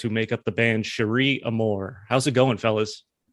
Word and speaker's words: Cherie: It's And you're like- Cherie, right?